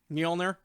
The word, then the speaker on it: Mjolnir: Mike, pronounce the hammer for me. Mjolnir.